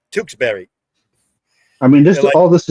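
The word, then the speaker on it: Tewksbury: tusab Berry pretty close it's tkes tkes Berry so it be like if it was t o o k s b r r y Tukes Berry I mean this all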